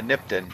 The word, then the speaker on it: Nipton: think this is probably nipon is that how you say it let me see are we heading towards it uh nipton yeah that's how you